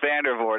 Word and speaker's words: Vandervoort: mentioned we are very happy to have vandervort did I get it right Dave you got it right yeah it's a it's pronounced vandervort it's one of those complicated Dutch names but